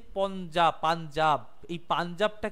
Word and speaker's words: পঞ্জাব: হয়েছে, তার জন্য এটা পঞ্জাব বলা হয়, বুঝতে পারো, পঞ্জাব, পাঞ্জাব আমরা উচ্চারণ করি কিন্তু উচ্চারণ হয় পঞ্জাব, উচ্চারণটা এইভাবে হয়, পঞ্জাব মানে পঞ্চ আব, মানে পঞ্চ নদী।